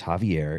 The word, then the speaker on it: Xavier: if you don't mind your first name is Javier if you don't mind but spelled with an X which just gives it